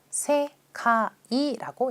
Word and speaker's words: 世界: 그래서 이 계는 카이라고 읽는 것만 알면 되거든요. 바로 표현 가볼 거예요. 자, 세계라고 하는 단어 세카이라고 읽죠. 세계, 세카이.